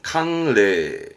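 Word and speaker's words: 寒冷: 그러면 담보 람보에서 레단보로 묶어도 괜찮겠죠 한 랭 발음은 캉레 한랭은 보통 일기예보 때 좀 들리잖아요 요런 거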